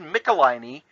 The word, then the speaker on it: Nicolini: way it's pronounced David Nicolini and he always will help you know how to remember it by saying it rhymes with pickle my knee I won't forget that